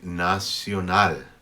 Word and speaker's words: nacional: At the end of a word, however, like in nacional, we don't pronounce it like we would in English. We don't say nacional. We don't say nacional. We say nacional. Put your tongue behind your teeth when you say this L.